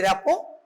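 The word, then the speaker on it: rapport: rapo the spelling is pronunciation is rapo but the spelling is rap okay in this way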